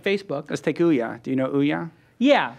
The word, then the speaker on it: Ouya: like Facebook let's take Ouya do you know Ouya yeah the um video game yeah I think I'm pronouncing it right it's like ouah it's it's the Android video game u a yeah so they broke